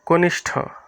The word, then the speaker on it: কনিষ্ঠ: পেটকাস বলি এই যে মূর্ধন্য স আর ঠ দুইটা মিলেই হচ্ছে এটা উচ্চারণ হবে কনিষ্ঠ কনিষ্ঠ জ্ঞানী জ্ঞানীর মধ্যে